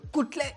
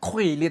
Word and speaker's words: Khwele: Kutle, go that side. And it's like, Khwele, like Kutle. I'm like, Khwele, man. Can't pronounce my surname.